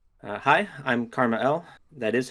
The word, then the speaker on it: KrmaL: Hi, I'm KrmaL. That is how it's pronounced.